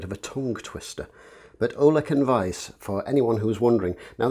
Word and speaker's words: Ollech & Wajs: this brand for long enough that the correct pronunciation is actually olek and vice um which is a little unusual uh it's